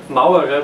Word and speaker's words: Mauerer: make a case say that my surname is Mao era but even most people in German cannot pronounce them properly yeah nailed it properly so